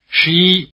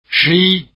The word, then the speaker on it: 十一: Say 11 after the speaker, and notice the stress is on the second syllable. 十一. 十一.